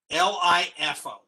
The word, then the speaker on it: LIFO: hear the term lifo l-i-f-o l-i-f-o is pronounced lifo it stands for last